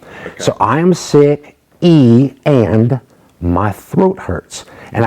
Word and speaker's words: y: is called e e it's spelled like the letter y but it's just pronounced e so i am sick e and my throat hurts